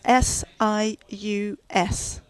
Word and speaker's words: SIUS: And that's spelled S-I-U-S.